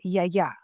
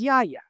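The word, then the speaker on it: γιαγιά: So, grandma in Greek is ya ya. Okay, that's the way you actually pronounce it in Greek. But, Greek-Americans uh call their grandmothers ya ya.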